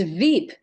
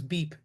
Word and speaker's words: VEEP: It's Veep, VEEP, isn't it? That's correct, Sally. Okay, Yeah. I thought it was Beep.